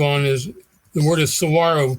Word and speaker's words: saguaro: is the word is saguaro pronounced with a w not a g ah there you go saguaro of course tomorrow yes